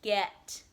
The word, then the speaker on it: get: saying the word correctly in texas we would be saying get get with a short e sound get get i'm totally guilty of saying git though all the time but the correct way to pronounce it is get because it has a short e not a short i okay moving on to